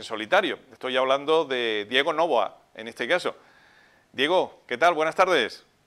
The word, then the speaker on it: Novoa: Novoa, con el acento en la O, ¿no? Sí, así es, así es. Exactamente, porque en un primer momento hay personas que le ponen el acento, digamos, más al final.